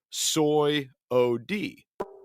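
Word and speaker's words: Swyody: Saudi uh s w y o d y pronounced soy o d soyote right so it's um so it's really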